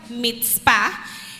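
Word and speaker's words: מצפה: El significado de atalaya en hebreo que se pronuncia mitpa, vigilancia o mirador, también se puede decir zafat, que es la acción de mirar, vigilar o esperar.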